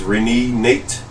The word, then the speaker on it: Renenate: Because I think he pronounced his name as Renenate.